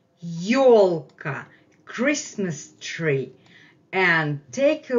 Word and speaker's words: ёлка: Our main word today is the word ёлка, ёлка, Christmas tree. And take a look how we spell it, how it's written in Russian. This is the vowel ё, ё, ё, ё, ёлка, ёлка, ёлка.